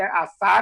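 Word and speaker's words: Asar: Você tem que ter, a Sar é a pronúncia egípcia de Osíris.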